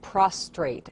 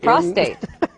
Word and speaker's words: prostate: said it right because I hear a lot of prostrate prostrate something different is something that's when you're flat on the ground exactly prostate is what we're talking about good point and so